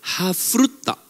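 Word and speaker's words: chavruta: Nah, sistem pemuritan Yahudi saudara menggunakan yang namanya hafruta. Ya. CH ini ya dibacanya contohnya ehad. Nah, pakai CH ya. Atau kalau bahasa Indonesia pakai H aja enggak apa-apa.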